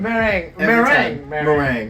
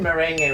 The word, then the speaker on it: Meringue: Meringue. Meringue. Like See, the pie. I got it. Meringue. But I said merengue when I met you.